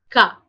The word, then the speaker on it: K: So the pronunciation of K in French is Ka.